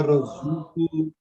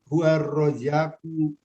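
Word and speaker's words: الرزاق: Innallaha huwa razuqu dzul quwwatil matin. Ulang cara bacanya. Innallaha huwa razzaqu dzul quwwatil matin.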